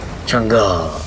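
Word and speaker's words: Chang'e: changa yeah you see now you're saying it right chunga beautiful oh I you're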